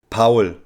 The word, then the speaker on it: Paul: European country in German it sounds like this Pawel and it is again a short and very easy to pronounce name which makes it very international Yanis